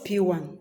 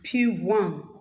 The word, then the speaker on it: PWAN: It is spelled P-W-A-N, P1. It's not letter P and O-N-E, no. It's P1, Property World African Network. I repeat, Property World African Network. That is why it's called P1. P1 is a network marketing real estate company.